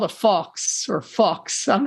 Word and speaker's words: faux: We're good to say fuck, but it's spelled fucks or fox suppressor, it's a fake can on the end of it, FAUX, and it's meant to